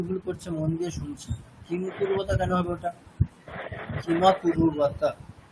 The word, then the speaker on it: किमकुर्वत: আচ্ছা, কিমা কুরুবতা ওটা আমি দীর্ঘ উচ্চারণ করে দিচ্ছি, ওটা দীর্ঘ উচ্চারণ হবে না।